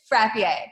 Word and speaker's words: Frappier: it was Frappier, like very. Yeah. So fun fact, in Watertown, if you pronounce it the right way, people think you're uppity. Ergo, why we just went with Frappier to avoid. So it is Frappier.